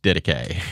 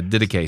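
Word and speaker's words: Didache: really nerdy but it's pronounced diday and the only reason I had to figure that out is cuz we said it in our course and we had to call a guy to be like how do you say this word he's like d so yeah diday so have a nerd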